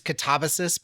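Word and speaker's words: Katabasis: This is Catabasis by R.F. Kuang, and I pronounced the name of the book right.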